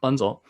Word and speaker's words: Bunzl: Bunzl, do you pronounce the L? Bunzl.